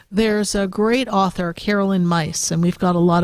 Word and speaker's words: Myss: There's a great author, Carolyn Myss, and we've got a lot of her, or Meese, depending on how people like to pronounce it.